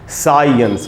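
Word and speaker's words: science: साइंस बिल्कुल गलत उच्चारण है दोस्तों, सही उच्चारण क्या होगा, देखिए साई तक तो ठीक है, लेकिन आधा अ भी है, ये बात सब लोग नहीं जानते, इसलिए इसको पढ़ना है साइंस, साइंस।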